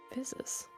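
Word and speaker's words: Physis: time is right right her name is fsus phiz how do you spell that dear dear GM guess guess oh oh do it p h y s i s yes yeah like it's like physics physics the physics gotcha that recognition was so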